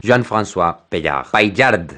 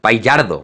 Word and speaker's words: Paillard: Le pido a mi primo que lo pronuncie para no arriesgarme. Jean-François Paillard. Paillardo. Paella. El señor Paillard.